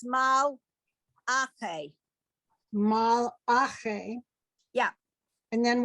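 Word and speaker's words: מַלְאָךְ: Ache, mal, ache, mal, la, no, mal, ache, mal, lache, Okay, the last one, remember, it's mal, ache.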